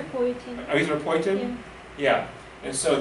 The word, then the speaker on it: erythropoietin: Kidneys make a hormone, starts with a name, it's kind of hard to pronounce, moipoietin, did I say that correctly? Erythropoietin.